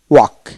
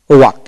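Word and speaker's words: walk: তারপর আসেন ডব্লিউ এ কে, ওয়াক, ওয়াক এল উচ্চারণ হবে না।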